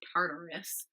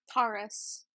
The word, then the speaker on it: Tartarus: Well, as I am cold and crave the warmth of my native Tartarus. Taurus. Tartarus. Taurus. Tarta. It's pronounced Taurus. No!